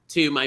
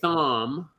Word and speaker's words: Thom: I have to talk to my friend Tom, and I want to say Thom, but I bet is the H silent, Thom? It is silent, yeah. So it is Tom with an H.